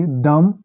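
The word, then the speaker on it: dumb: और दूसरा रूल है जो बी आफ्टर एम, अगर बी एम के बाद आए, एम बी, तो ये साइलेंट हो जाता है। जैसे डम, कोम।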